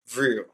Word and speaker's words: Vrill: What's the correct pronunciation? Vrill, Vrill.